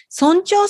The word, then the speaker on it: 尊重: 尊重するというのは大事にするという意味ですね。